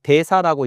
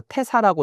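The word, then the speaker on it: 大師: 그러고 나서 뭘 했냐면 소 태사활 이걸 대사라고 읽지 않고 태사라고 읽는데이 태자처럼 태사라고 읽어요.이 태사는 뭐냐 그러면 음악을 관장하는 부서의 장입니다.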